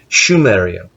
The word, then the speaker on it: Scheria: moo also scheria and yes I'm referring to sumia but the proper pronunciation is schia so the Suns of